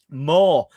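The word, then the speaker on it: Maw: Moore, and it's spelled M A W.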